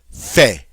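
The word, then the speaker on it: fais: in English I and the conjugation is Fe F AI s notice we don't say that final s it is silent as most final consonants are in French again I do or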